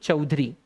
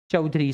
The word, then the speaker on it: Chaudhuri: नाम था हीरालाल चौधरी, चौधरी नहीं चौधरी, क्योंकि उनकी स्पेलिंग से आप उसका प्रोनाउंस करेंगे, it's Hiralal चौधरी, CHAUDHURI चौधरी, इट्स नॉट ARY या OURY जो वो चौधरी लोग लगाते हैं, ये चौधरी है, हीरालाल चौधरी।